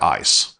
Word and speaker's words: ISE: And at the heart of it is Cisco's Identity Services Engine, or ISE, and we pronounce that ISE.